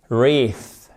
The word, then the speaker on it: wreath: J'ai pas d'exemple en tête où le W serait prononcé. Donc là, vous enlevez to write. OK? To write. Vous commencez par un E. Ce EA se prononce comme un I long. Et ici, ça se prononce comme un TH non sonore, c'est-à-dire que vous ne faites pas vibrer les cordes vocales.